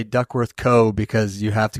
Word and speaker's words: Duckworth: How do you say it? Duckworth? Duckworth. Yeah, we just say Duckworth.